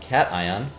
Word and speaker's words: cation: ion exchange beads um if you look at the word Nation it's spelled almost the exact same way uh but this is not pronunciation this is pronounced cation similar to uh when